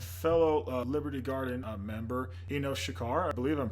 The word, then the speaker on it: Shachar: name my name is Shekhar it's pretty much not pronounced how it's spelled it's all good don't